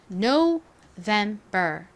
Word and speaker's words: November: sept 오버에서 봤었죠 자 no vember 발음해 볼게요 November 강세 어디에 있나요 nober이 부분에 있죠 한 번 더 해